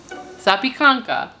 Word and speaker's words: Zapiekanka: Pronunciation, here we go. Zapiekanka. Zapiekanka. Okay, you're right, for once.